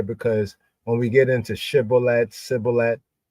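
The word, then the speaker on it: shibboleth: have you so they said to him say shibolet and he said CET for he could not frame it right then they took well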